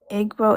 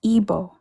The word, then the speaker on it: Igbo: So I've been pronouncing it wrong. I've been saying Igbo. It's Igbo, right?